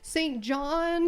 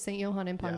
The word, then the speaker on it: St. Johann im Pongau: I was positive I was saying it wrong, and so I started saying St. John, St. Johann, and I got quickly corrected that no, it is St. Johann im Pongau.